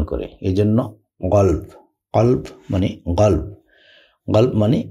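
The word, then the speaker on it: قلب: মানে ঠান্ডা বারিদ ঠান্ডা গালফ মানে মন এটাকে কল বলা হয় কলপ আবার আবার বলছি আগের ভিডিওগুলোতে বলেছি এরাবিয়ানরা ক কে গ এর মত উচ্চারণ করে এজন্য গলব কলব মানে গলব গল মানে মন অথবা হৃদয়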